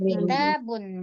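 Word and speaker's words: كتابٌ: kita pegang konsepnya adalah jikalau ini tidak memakai alif lam, maka secara otomatis kita memahaminya bacanya adalah dengan tanwin. Berarti kitabun manza. Kalau dia pakai alif lam barulah dia tidak tanwin.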